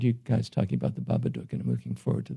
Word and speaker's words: Babadook: I heard you guys talking about the Babadook, and I'm looking forward to that. But I think, did I pronounce it correctly? Yes, you did. Babadook.